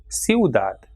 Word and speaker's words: ciudad: For example, diphthongs like ciudad. So here in this word you can see I and U comes together, these two weak vowels, and it is pronounced as ciudad, U.